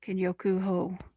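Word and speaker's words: Kenyoku-ho: it it's called um ken yoko ho oh kenyoku ho okay i believe it's spelled k-e-n-y-o-k-u-h-o thank you you can find some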